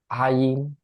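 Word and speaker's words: عين: গলার মাঝখানে চাপ দিয়ে তারপরে বলবেন আইন ইং, ইং, ইং, চাপ দিয়ে। আর করবেন এই যে আইন যেখানে চাপটা দিবেন গলার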